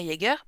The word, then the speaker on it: Jaeger: Euh, Moi, le J, je sais que par exemple dans Jaeger, dans Emma Jaeger, bah, ça se prononce comme un Y.